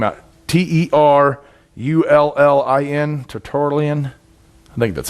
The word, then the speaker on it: Tertullian: Terullin, Tertullian.